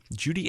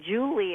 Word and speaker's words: Judy: that Joel high camp calls me Julie ESS and every time he gets on the radio so thank you for getting Judy correct um we all